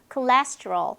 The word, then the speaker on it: cholesterol: allergy, allergy, battery, battery, cholesterol, cholesterol. 이게 조금 어렵죠? 레에 강세가 있어요. cholesterol 이렇게 발음이 됩니다.